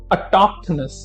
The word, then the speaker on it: autochthonous: The first related word is autochthonous. Autochthonous. Now see, again pronunciation अगर आप ध्यान से देखें तो हम TOK पे हम जो है थोड़ा सा emphasize कर रहे हैं।